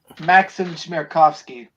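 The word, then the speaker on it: Maksim Chmerkovskiy: actor Miles Brown from Blackish, choreographer, help me pronounce it. Maxim Chmerkovsky.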